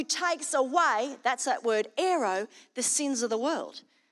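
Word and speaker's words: αἴρω: And it is very closely related to another Greek word, which is pronounced aero, which means to lift up, take away, and remove. And Strong says it's comparable to this word aero.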